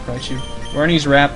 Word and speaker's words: Raichu: Raichu.